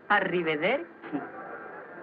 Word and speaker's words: Arrivederci: ¿Cómo se pronuncia eso? Arrivederci.